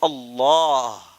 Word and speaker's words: اللہ: مفخم پڑھتے ہیں، اسے اللہ نہیں پڑھتے ہم، اسے کہتے ہیں اللہ، ہے نا. یہ لام عام طور پر مرقق ہوتا ہے، عربی زبان میں لام کو باریک پڑھنا چاہیے، لا، یہی اس کا تلفظ ہے. لیکن اللہ کا یہ لام ہے نا، اسے موٹا پڑھنا ہے، موٹا پڑھنا ہے، کیونکہ